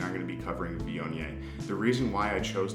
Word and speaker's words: Viognier: Viognier is pronounced Viognier.